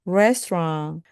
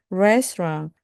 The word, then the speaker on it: restaurant: T 발음은 거의 안 하시면 됩니다. 그래서 restaurant, restaurant, Korean restaurant 이렇게 말씀하시면 됩니다.